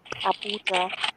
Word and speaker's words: Abuja: Is it Ahuba? How do you pronounce that? Abuja, Okay, how far are you from that in terms of driving?